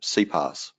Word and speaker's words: SiPass: of psy Pass so sigh pass is a name given to the product by Siemens and being German they pronounce their asses as C's so you're going to hear a lot of people when they talk about slow pass we'll call it C pass and Allah less